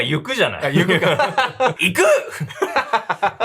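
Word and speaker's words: ゆく: Alors je vais regarder "Ryoma ga iku." (Ryoma !) Je pense que oui. "Ryoma ga yuku." (Ryoma !) Oh, ça se prononce "Yuku". - Oui, pas "Iku" Ryoma ga iku, Ok, c'est bon, il s'en va, mes excuses.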